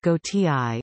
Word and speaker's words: Gautier: The band Gautier, pronounced Gautier, is a respelling of the French surname Gaultier.